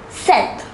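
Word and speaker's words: sept: is pronounced as sees the number seven is pronounced as seth the number eight is pronounced as wheat listen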